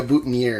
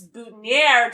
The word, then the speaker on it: boutonniere: The pluck me a boutonniere and some of that stuff. And I like, did you notice how they pronounce boutonniere specifically? He says it very French. So it'll rhyme with air.